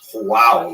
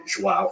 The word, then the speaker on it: João: I used to think it was João, like when the baby was born, the mother would say, João, it's a boy. But it's actually João.